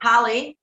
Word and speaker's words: Halle: So I'm forever mispronouncing her name, but her name is pronounced just like Halle Berry. Oh, Halle okay. Berry. So it's Halle Tisma.